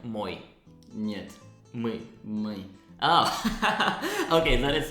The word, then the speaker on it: мы: Yes, so it's like a letter U. And can you pronounce it again? Мы.